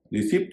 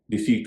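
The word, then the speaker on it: receipt: इसका उच्चारण रिसीप्ट नहीं होगा। डिसीट होगा जिसे हिंदी में रसीद कहते हैं।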